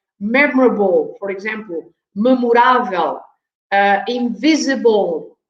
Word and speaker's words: memorável: And again, the stress is on the accent. So this is memorável. We put an accent on the A.